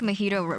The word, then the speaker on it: mojito: mispronounce things so um a mojito um is is supposed to be a mojito but i like i just like to call it a magito because it's fun that